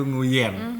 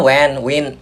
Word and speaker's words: Nguyen: suka di saat dipanggil Nguyen. Bener gak sih? Iya, itu pronounce Indo banget. Maksudnya nama Nguyen kan panggilannya Wen, Wing atau Wen.